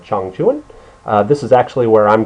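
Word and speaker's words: Changchun: Chung Chuan Chong chuin if you read it out phonetically it would say Chang Chun but it's a Chong Chun this is actually where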